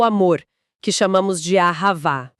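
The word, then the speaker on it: אהבה: A gente também vai esbarrar em termos recorrentes no texto, tipo o amor, que chamamos de Ahavá. Ahavá. E o espírito, que pronunciamos Ruar.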